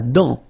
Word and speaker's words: dent: La dent. Final T not pronounced.